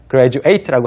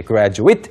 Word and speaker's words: graduate: 생각을 해 주시면 됩니다 grad라고 뒤에 8 숫자 8처럼 gradate고 하면 졸업하다 그런데 graduate 뭐 it 그것을 가리킬 때 graduate 이렇게 발음하시면 졸업생이 됩니다 그리고 졸업생이 대학을 특히